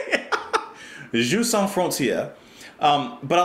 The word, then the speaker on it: Jeux sans frontières: No, you don't pronounce the S at the end of sans. I know that. Jeux sans frontières. I'm trying to say it. Jeux sans frontières.